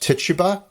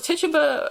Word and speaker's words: Tituba: And he brings with him an enslaved person, and her name is Tituba, but it's commonly pronounced Tituba, and that's the pronunciation I'm going to use.